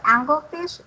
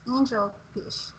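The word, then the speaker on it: angelfish: said was angle-angle fish it's not angle fish its angel fish other than that I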